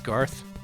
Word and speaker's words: Garth: I don't know why I mispronounced Garth there, whatever.